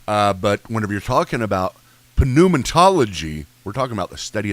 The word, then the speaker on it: pneumatology: What are you pronouncing the P for? You did. Back then, you pronounced the P. Whenever you're talking about from the Greek, they would pronounce the P. So pneuma, like if you had a pneumonia.